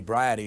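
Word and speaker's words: Briody: dan uh it's it's it rhymes with sobriety briety is his name uh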